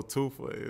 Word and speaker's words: Toofa: So Toofa is like T-O-O-F-A, like two for one. That's how you say it. Too fat, take away the T.